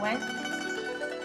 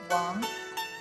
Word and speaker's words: Wang: Can you try to pronounce it? Mr. Wang? No. It is not the Chinese way to pronounce it. We pronounce it as Mr. Wang. Mr. Wang. Wang sounds as Wang.